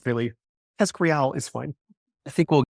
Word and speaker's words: TESCREAL: you, Émile, to this paper on, am I pronouncing it correctly? The TESCREAL bundle? TESCREAL? How do we say it? TESCREAL.